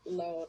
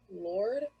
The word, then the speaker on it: Lawd: a word in there that said, that was pronounced loud, like LAWD, and everybody was pronouncing it Lord.